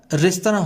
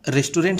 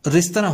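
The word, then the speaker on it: restaurant: ध्यान दीजिएगा, इसका सही उच्चारण रेस्तरां होता है। रेस्टोरेंट हम कहते जरूर हैं, लेकिन सही उच्चारण इंग्लिश में रेस्तरां होता है।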